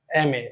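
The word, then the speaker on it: M: কি হবে mother is এম এমএ মানে মাস্টারস অফ আর্টস এমটা যখন আমরা উচ্চারণ করব এম উচ্চারণ করতে গেলে প্রথমে একটা আ সাউন্ড আসে ঠিক না এম তারপরে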